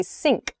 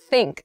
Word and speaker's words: think: don't do this I think so it might feel strange but when you're first trying to make this sound accurately try putting your tongue between your teeth I think I think